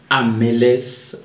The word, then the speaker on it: Amelès: Qu'est-ce que c'est Amelès Suisse? Est-ce que je le prononce bien? Oui. Oui, c'est bien prononcé.